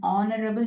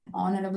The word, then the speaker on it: honorable: An honorable chief minister. An honorable minister. Honorable. It isn't honorable, hover, hotel. Here in these words, the letter H is silent.